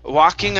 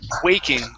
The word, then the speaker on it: waking: your last one here instead of walking hours it's long a way waking waking hours waking yeah waking hours